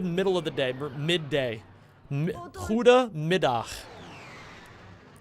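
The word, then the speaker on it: goedemiddag: of the day midday Huda midah G's in this language are pronounced like the Hebrew so Huda like good mid like midday yeah you're pretty close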